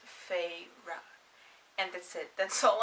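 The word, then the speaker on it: Feyre: and number two that her name is pronounced fei ra and that's it that's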